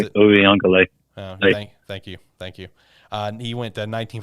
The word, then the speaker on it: Uiagalelei: They lost 10-3, but DJ Uiagalelei, I believe is how you pronounce it. Uiagalelei.